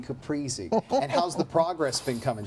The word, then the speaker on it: caprese: it what's the trick it is its breezy being capris it's breezy being caprese how's the progress been